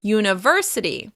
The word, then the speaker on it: university: In English, the stress will be on the third syllable: uniVERsity, uniVERsity.